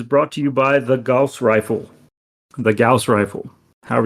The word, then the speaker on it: Gauss: Gauss. There you go. That is Bing pronouncing it for you. Gauss.